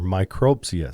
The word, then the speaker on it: micropsia: Technically known as microphagia or micropsia. Sorry, people. Jared can't read. Micropsia. Needs you emphasis on the wrong syllable.